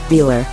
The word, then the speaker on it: Velar: a secret prototype and it does roll off the tongue quite luxuriously with emphasis on the first syllable but is Range Rover